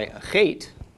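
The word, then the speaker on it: אח: If we have an aleph with the comets, followed by a chet, this is pronounced ach. Short A of the comets, followed by the ch of the chet, makes ach.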